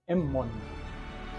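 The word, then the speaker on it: ⲙ̀ⲙⲟⲛ: would say something like, this is pronounced emmon. That's no in Coptic, right?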